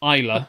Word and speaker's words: Islay: So the pronunciation is actually there. We could have read that there the whole time. Literally, Islay.